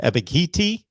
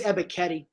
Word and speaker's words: Ebiketie: Arnold, I want to pronounce his name correctly, Ebiketie? I think it's Ebiketie. Ebiketie.